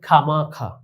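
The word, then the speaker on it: خواہ مخواہ: যেমন তোমরা দেখতে পাচ্ছ খে ওয়াও আলিফ হে, তো এই চারটি বর্ণের উচ্চারণ শুধুমাত্র খ আকার খা হয়েছে, তাহলে এখানে ওয়াওয়ের উচ্চারণ আসেনি। ঠিক এখানে খা মাখা, এখানে ওয়াও আলিফ এর ওয়াও এর উচ্চারণটি আসেনি, খামাখা।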